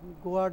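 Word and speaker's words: guard: জি এরপরে police officer soldier সৈনিক security গার্ড এ গোার্ড না গার্ড কথা বুঝছেন নি উচ্চারণ ইর উচ্চারণ সাইলেন্ট হয় নাই এরপরে ফায়ারফাইটার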